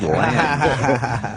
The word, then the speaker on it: Lange: I'm saying I Ted said Lange. There's an E at the end, so...